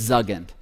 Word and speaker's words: Zuggand: We joke about this a lot, you know, so how do you pronounce it? It's Zugend. Now, where did it come from?